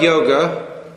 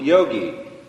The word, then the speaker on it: yoga: a discipline called yoga the word yoga y o g a don't say as many people do Yogi Yogi is one who